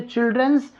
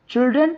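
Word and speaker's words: children: बहुत से लोग इसे चिल्ड्रंस प्रोनाउंस करते हैं, विच इज इनकरेक्ट, जो कि गलत होता है। चिल्ड्रन अपने आप में एक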